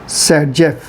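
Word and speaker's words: Zaitsev: उनका नाम था अलेक्जेंडर जैटसेव। क्या नाम था? अलेक्जेंडर जैटसेव। और इन्हीं को हम लोग क्या कहते हैं? इन्हीं को प्रोनाउंस करते हैं सेटजेफ।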